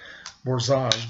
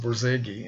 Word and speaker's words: Borzage: I was pronouncing his name Borzage, but I guess it's just Borzage.